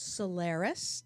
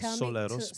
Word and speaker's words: Soleros: own group now called Solaris. Did I pronounce that properly? Very close. Soleros, but thank you.